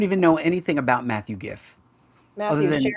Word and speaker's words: Giff: We don't even know anything about Matthew Giff, other than it's pronounced GIF.